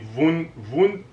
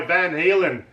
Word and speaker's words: Van Halen: I can't pronounce this band properly. Oh, come on. See, Vun-Alin. No, it's Panama by Van Halen.